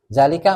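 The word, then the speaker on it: ذلك: tulisan dan pengucapan beda Zalika juga gitu ya Zalika mestinya pendek begini tapi dibacanya panjang Makanya harus talaqi tapi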